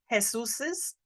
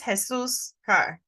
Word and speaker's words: Jesus': And sometimes people will try to say Jesus's. This is a little bit tricky on pronunciation. This is Jesus car.